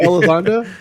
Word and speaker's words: Elizondo: It's so fucked up, but his name rhymes with it. Elizondo.